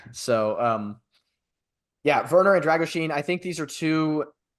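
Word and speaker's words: Drăgușin: from RB leig and Radu dragusin which I believe is the uh agreed upon pronunciation given all of the uh experts that have appeared on Twitter in recent days in Romanian pronunciation so um yeah verer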